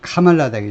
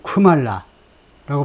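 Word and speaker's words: Kamala: 카메라라고 발음합니다 카멜라 그니까 인도에서는 카말라 첫 번째 음에 액센트 카말라 근데 트럼프는 어떻게 발음을 냐 말라 아니면 쿠말라라고 발음을 했다는 겁니다 그래서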